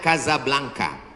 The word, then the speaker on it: Casablanca: nama negaranya Maroko ibukotanya tulisannya Casablanca cara bacanya Kadzab langka Kaza artinya rumah Blanca